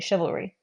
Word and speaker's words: chivalry: shiv if you're saying chivalry so this would have more of that sh sound than a CH likewise here H we